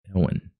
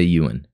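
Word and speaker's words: Ewin: Ewan. Now, I'm trying to think of how I remember hearing that pronounced, but it's been a while. I'm going to say Ewan right now.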